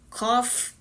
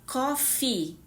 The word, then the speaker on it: coffee: vezes pronunciada errada, porque se você pronuncia cof, está errado. A palavra café em inglês, ela tem dois ezinhos no final. E esses dois ezinhos, ele tem um som mais longo. Você fala coffee, coffee.